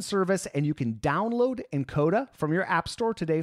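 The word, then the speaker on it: nkoda: is brought to you by encoder by the way that's spelled NK Oda this app is like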